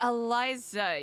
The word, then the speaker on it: Eliza: Is it Eliza or Alisa? It is Eliza. You said it correctly.